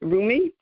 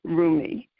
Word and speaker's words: Rumi: Saqib, you were a wealth of information, and you talked about, see if I can pronounce his name right, Rumi?